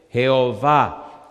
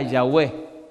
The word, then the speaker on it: Jehová: En realidad Cuando usted Mira el nombre Jehová solo encuentra cuatro consonantes que no se pueden pronunciar jhw los judíos le pusieron una a y una e y diría Yahweh y los masoretas le pusieron una e una o y una a que dice Jehová cuando los judíos llegaban